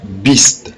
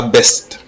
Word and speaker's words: beast: Et deuxième mot on dira beast, pas best. Beast.